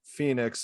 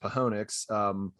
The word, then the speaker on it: Phoenix: But we're actually on the road in Phoenix, or I believe it's pronounced Pahonix. Phoenix. I believe he adds Phoenix.